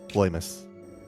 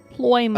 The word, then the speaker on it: Ploymus: By the way, before you get locked into mispronouncing it like Hetsu, it's Ploymus. Ploymus. Oh. Ploymus.